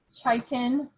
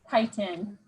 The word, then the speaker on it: chitin: It's spelled like chitin, but it's chitin.